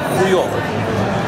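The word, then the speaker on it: huevo: Многим может показаться, что яйцо читается как хуёво. Ну, в принципе, так оно и читается. Но дело в том, что H в данном случае глухая и произносится как web.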